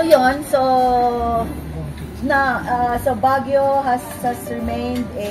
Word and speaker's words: Baguio: moss it's mosy forest when the Americans came they couldn't pronounce Bagui Bagw Baguio So that's where Baguio's name was derived from. Baguio.